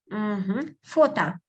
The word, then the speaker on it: фото: Фото. Оно. Yes, good. Now I didn't catch you. So photo, I pronounce фото, but we write letter O, so фото оно.